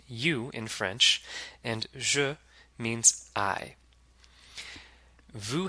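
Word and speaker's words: vous: in French means I Vu has a silent S at the end the vowel sound is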